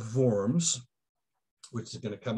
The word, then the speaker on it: Worms: con cordette of worms not worms as we want to pronounce it but it's a it's the german city of forms which is going to